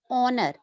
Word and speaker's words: honor: Again, this starts with consonant letter, but the sound we get is of vowel. Honor. We pronounce it as honor.